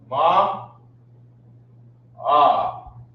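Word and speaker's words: מאה: 100 is Ma Ah. Ma is 100. They spell it with an extra H here. I gotta put that here, right? In Hebrew, Ma Ah.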